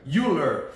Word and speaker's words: Euler: next to me we have Daniel ruler corre uler um thank you for correct my pronunciation on your name and uh let's introduce